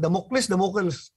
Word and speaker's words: Damocles: How do you pronounce that? Damocles.